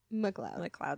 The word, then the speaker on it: McLeod: It's Alan McLeod. That's what I thought. But then for a second I was like, what if Yeah, I'm a lot of people wrong? pronounce it McLeod.